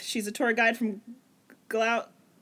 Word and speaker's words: Gloucester: She's a tour guide from Gloucester. There we go. Gloucester. It's spelled like that, yes, Gloucester.